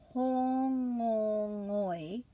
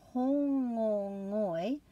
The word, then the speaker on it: Hōngongoi: For July, hōngongoi and hūrai. So hōngongoi looks like a mouthful, but you just make a break after each of those vowels.